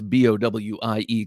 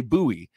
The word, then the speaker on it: Bowie: at this point it's well established I cannot pronounce b-o-w-i-e correctly whether I say Bowie uh which I said growing up as a yank or whether I say buoy which everyone is telling me I have to